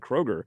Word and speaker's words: Kroeger: It's spelled k r o e g e r. So everybody always thought it's Chad Kroeger."